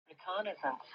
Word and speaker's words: reconnaissance: Reconnaissance. Okay, reconnaissance. This is the right pronunciation.